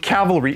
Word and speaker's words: cavalry: I always confuse the word Calvary with cavalry. Even right now, I'm concentrating so hard to try and say it properly.